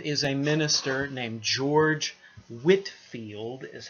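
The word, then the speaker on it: Whitefield: coming from England is a minister named George Whitfield is how you say his last name so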